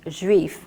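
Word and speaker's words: Juif: French it's spelt it's it's called grief and it's spelled J you i F so I started to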